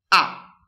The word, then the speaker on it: ha: A, perché l'H non si sente, vero? Quindi pronuncio solo la A.